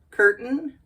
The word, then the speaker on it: curtain: over here no it's where we kind of swallow the tea and we just say curtain curtain Fountain fountain or mountain mountain got it let's review